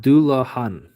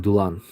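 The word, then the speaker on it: Dullahan: Yeah, I can see that little ultimate cookie is pronounced dulahan. Oh, I was saying dulan.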